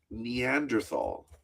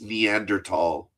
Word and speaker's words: Neanderthal: Uh, I pronounced Neanderthal and my teacher Mr. Sharesian corrected me said it's Neanderl.